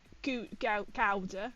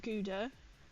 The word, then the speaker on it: Gouda: Gouda, as it's pronounced, as I learned. Gouda.